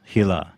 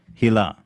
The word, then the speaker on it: Hila: spelled it's just that in hebrew there's this pronunciation that doesn't really exist in english the like it's like the h i sound in your name is is something that you don't see in english hilah hilah but it's